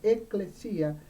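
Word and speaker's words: ἐκκλησία: viene de la palabra griega ekklesia así se pronuncia ekklesia que significa convocar la iglesia ella consta literalmente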